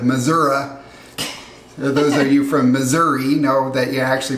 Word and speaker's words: Missouri: Those of you from Missouri know that you actually pronounce it Missouri.